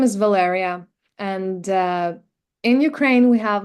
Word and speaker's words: Valeria: But I figured that for English speaking people, it's much easier to pronounce it as Valeria or Valerie.